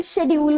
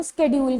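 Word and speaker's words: schedule: आज for example शेड्यूल word है, शेड्यूल word के ही दो प्रोनाउंसिएशन होंगे, अपन स्केड्यूल भी बोलते हैं।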